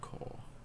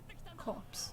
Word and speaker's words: Corps: Corpse. Or, no, Corps. The way you say that is Corps. Corps. Why do you not pronounce a P for? Like you don't say the Marine Corps, do you?